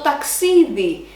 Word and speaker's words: ταξίδι: Now let's see το ταξίδι, a neutral noun with ending of iota, e, that has the accent at the second syllable from the end.